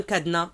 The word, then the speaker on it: cadenas: À votre avis, c'est quoi un cadenas? Le S ici, on ne le prononce pas.